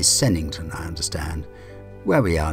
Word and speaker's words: Sevenhampton: to church in the village of seven hampton pronounced locally sennington i understand where we